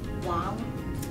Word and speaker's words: Wang: Actually, the correct pronunciation is Wang. Oh, okay. So the A sounds more like a A?